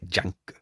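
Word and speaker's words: ジャンク: shop uh in Japanese junk is pronounced like junk so you can ask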